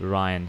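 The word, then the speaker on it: Rhine: what is it um I listen to the pronunciation and it's called Ryan so here we have to Ry a very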